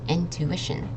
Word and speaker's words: intuition: This one is intuition. So the U and the I make a oo sound. I mean, the U makes an oo sound, and then the I is just an it. Intuition.